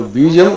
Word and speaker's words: बीजम: भी होता है तो बीजम बीजम दोनों प्रकार के प्रयोग दिखते हैं यहां पर बीजम अवयव दोनों का अर्थ वही है कोई उसम अंतर नहीं है बात वही है केवल उच्चारण में अंतर है तो शब्द वही है उच्चारण कहीं पर व उच्चारित है कहीं पर ब उचार बीजम का अर्थ क्या